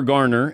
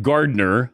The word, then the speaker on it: Garner: with uh you know Jennifer Garner it's not Gardner as you you had her name wrong the last time you were on Jennifer